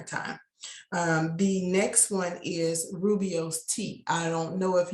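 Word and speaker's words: rooibos: in the grocery stores it is spelled r o o i b o s and the reason why i wanted to spell it is because it doesn't really look like how it sounds but you will see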